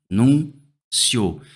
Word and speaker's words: anúncio: um ditongo, e aí a minha sílaba tônica passa a ser essa, ó, anúncio.